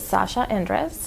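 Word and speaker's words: Zasha Endres: and spell it okay so my name is Sasha Andres and is spelled z-a-s-h-a and then Andres is e-n-d-r-e-s have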